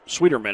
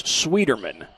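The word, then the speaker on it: Schwieterman: shot taken by rena sweetmeyer excuse me sweetie sweeterman is the last name talking with coach comer about the pronunciation it's swederman spelled s-c-h-w-i-e-t-e-r-m-a-n that's the spelling on that last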